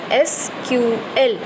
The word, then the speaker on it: SQL: SQL हमारा structured query language है, and it is pronounced as SQL और sometimes SQL.